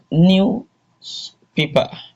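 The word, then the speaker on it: newspaper: So the stress from the pronunciation the stress is on the black. Another one here is news paper.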